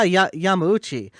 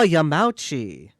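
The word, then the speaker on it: Yamauchi: on the cover and I said oh yeah y Yami and then they didn't know what I was talking about I I looked and I found it I showed it to them and they said oh yam mouchi yeah and that's how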